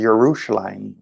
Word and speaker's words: Yerushalayim: called jerusalem because again there's no j in the hebrew language the actual name of the place is yerushalayim but for english-speaking people yerushalayim is difficult to pronounce so we just say jerusalem right and and that